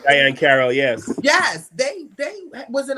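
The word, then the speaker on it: Diahann Carroll: Diane Carroll, yes.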